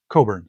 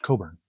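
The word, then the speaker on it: Cockburn: T-Bone Bernett, Richard Thompson, Suzanne Vega, uh Leo Cotkkey, Tish Hinosa, Bruce Cochburn, Coburn, sorry, uh John Hammond, Jerry Garcia, it reads as Cochburn, but it's pronounced Coburn.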